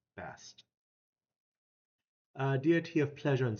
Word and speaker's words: Bast: Sometimes spelled with an additional ET at the end, but always pronounced Bast.